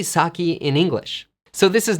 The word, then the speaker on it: sake: word is saki not sake the word has become an English word and so it needs to follow the English rules for pronunciation so it's not sake